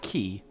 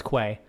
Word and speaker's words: quay: So, okay, I know it's pronounced key, but I did used to pronounce it as it's spelled, as Quay.